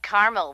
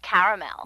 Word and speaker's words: caramel: that's what I said Tina actually you said caramel when it's pronounced caramel can't we just call